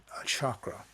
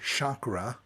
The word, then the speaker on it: chakra: it yourself by saying expressing the word chakra and see how the energy enters your body and where it goes or say it uh in a more Centric pronunciation weighs properly should be properly expressed which is chakra it kind of bubbles